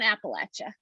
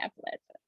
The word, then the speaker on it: Appalachia: and i tell people the best way to remember is if you don't say it right i'm going to throw an appalachia and that's why you can remember how to say appalachia so this is only